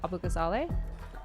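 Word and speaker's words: Abughazaleh: Abu Gazal. Um, there are a bunch of different ways to pronounce this. I don't speak Arabic, so I uh we always in my family pronounced it Abu Gazale.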